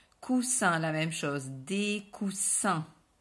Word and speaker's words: coussins: sans prononcer le s coussin la même chose des coussins des coussins en prononce pas baisse féminin une masculins 1 ok